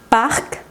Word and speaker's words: parc: Hay ciertas consonantes finales que sí se pronuncian. Es el caso de estas que ves aquí. Parc.